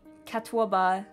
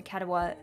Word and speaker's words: Catawba: Oh yeah, the Catawba River Runner.